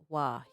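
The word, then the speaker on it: は: W is or ha is pronounced wah.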